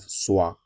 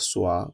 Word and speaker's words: soir: We have soir, and I told you that whenever you see o i in French, it is pronounced as wa. Wa. So, we have soir, which means evening, and